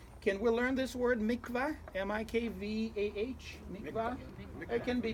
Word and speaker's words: mikveh: Can we learn this word mikveh? M-I-K-V-A-H? Mikveh. It can be mikveh, mikveh. Doesn't matter how you pronounce it.